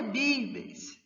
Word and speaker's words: vives: Lembrando que a pronúncia de V em castelhano vai ser sempre B, né? Então, donde vives?